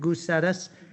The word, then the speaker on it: Gousettis: It's on file D20-0234-F340FY, Kristen Goosettis. It's spelled Gousettis.